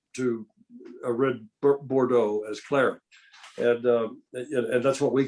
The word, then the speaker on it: claret: Well, no, claret, it's pronounced claret in English.